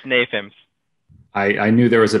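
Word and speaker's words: NAFEMS: I'm sure there's a better way to say that, but I'll let you pronounce it. Manufacturing Simulations Working Group, and the Digital Twin Consortium. It's NAFIMS.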